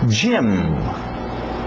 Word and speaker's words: gym: Gym, gym, gym. Parece o nome Jaime, gym também, mas vem de gymnasium, ginásio, comprido.